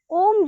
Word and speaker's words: ओम: हां ओम का उच्चारण ओम जो है ओम शब्द जो है वो अ उ और म तीन शब्दों से बना है यानी कि आप